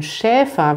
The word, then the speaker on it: Schäfer: um scharfe kümmert und beim schäfer wird das e lang gesprochen anders als beim bäcker sie hat vielleicht den